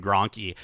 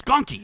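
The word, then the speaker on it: Gonky: I always called him Grunky and and Joints would get so upset every single time he's like, "It's gunky. It's It's gunky. Just say it right.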